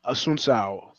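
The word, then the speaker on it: Assunção: How do you pronounce that last name? Is it Assuncao or Assuncao?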